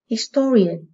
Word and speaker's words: historian: Câu 18, historian, từ này có hậu tố là ian, vì vậy trọng âm rời âm tiết trước nó.